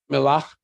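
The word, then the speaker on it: Mellah: Melach, M-E-L-L-H, you see it spelled that way as they pronounce it, Melach, they think from the word melach, salt.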